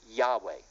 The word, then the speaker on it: Yahweh: And they state very plainly in there, number one, the name is pronounced Yahweh.